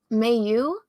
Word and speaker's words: Myu: Mayu, I think is how she said, is how you pronounce her name.